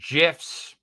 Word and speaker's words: GIF: my books so whether it be you know GIFs or gifts they're actually pronounced argue with me on that change my